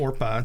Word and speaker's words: Orpah: it's Orpah. Orpah. Yeah. Oprah Winfrey got her name from that character. Oh, did she really? Well, they accidentally switched the letters around to hear her tell the story that mispronounced her name. Yeah. That didn't quite match the biblical spelling.